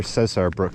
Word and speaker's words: Cesar Brook: caesar brook campsite or cesar brooke campsite it's spelled c-e-s-a-r so it's not like caesar caesar but um names don't have rules so it could be anything and uh got a